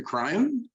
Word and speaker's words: Kraaien: So this is De Kraaien. Is that the pronunciation? Yeah, Kraaien.